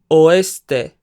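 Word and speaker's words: oeste: Norte Norte Sur este oste remember that there are three syllables in oste este or nordeste noreste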